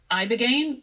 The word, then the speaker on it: Ibogaine: Specifically, they were touting this one drug, Ibogaine, I believe is how you say it. Correct.